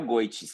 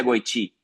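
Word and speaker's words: Goity: Ô Lucas, você que é argentino se pronuncia goit ou se pronuncia goiti? É, é muito, foi muito engraçado isso. Porque falando de goiti. Aham. Goiti. Pronuncia, mas não pronuncia, né?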